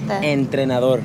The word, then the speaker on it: entrenador: Entrenador.